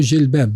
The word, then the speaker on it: jilbab: Nela, Deus exige para os crentes cobrir o cabelo, usar o jilbab, mais do que o cabelo até.